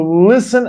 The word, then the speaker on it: listen: Listen. T is silent.